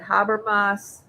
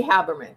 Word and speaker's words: Haberman: Um but Habermas, someone put in the comments the the proper way to say the name. Maggie Haberman. Thank you.